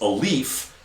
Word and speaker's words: Alif: So my buddy Alif says, hi, my name's Alif, kind of like a leaf. It's A-L-I-F, but it's like a leaf, like a leaf on a tree.